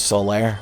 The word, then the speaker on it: Solaire: That's why his name is Solaire. It rhymes with laid bare.